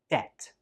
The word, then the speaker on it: debt: So we pronounce this word like debt. Debt. Again, there is no B sound when we say this word.